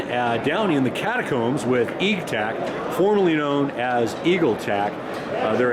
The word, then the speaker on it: Eagtac: The correct pronunciation is Eagtac, yeah, or Eagtac.